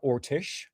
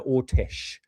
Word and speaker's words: Orsic: deep dive into Maria Ortish as one would say. People call her Maria Orsk, but the real pronunciation actually got three pronunciations for it, but it's Maria Ortish.